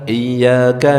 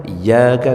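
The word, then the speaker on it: إِيَّاكَ: Baca lagi, iyyaka na'budu wa iyyaka nasta'in. Iya itu ada tasdidnya. Iyyaka bukan iyyaka na'budu wa iyyaka nasta'in, itu artinya beda.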